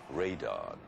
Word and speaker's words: Radon: Rodan, which in Japan was called Radon. You know, it's the Japanese pronunciation of radon, Radon.